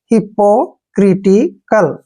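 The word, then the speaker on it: hypocritical: को हमने कै पढ़ना है, और एल का उच्चारण ले करेंगे। अब इसको जोड़ के देखिए हिप्पोक्रिटिकल।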